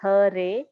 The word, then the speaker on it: Hare: The words Hare pronounced Hare, Krishna pronounced Krishna, and Rama rhymes with Rama are Sanskrit words.